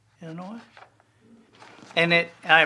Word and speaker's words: Illinois: a couple of foreign countries uh people from Illinois Illinois and it I pronounced it correctly too didn't I do you hate it when people say Illinois God that drives me insane because and my